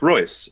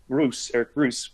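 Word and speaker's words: Reuss: So compare that to Spirit Island, which and I looked up an interview with Eric Royce, or Eric Roos, I think is actually how it's pronounced, who is the also European designer of Spirit Island.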